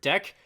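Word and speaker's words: dequeue: should say you dsq-dq some people when they like to pronounce the word dq out loud they just say the word deck which i think is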